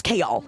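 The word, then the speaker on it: Chaol: It's pronounced Kode. Yeah, it's Kol. It's Kol, please.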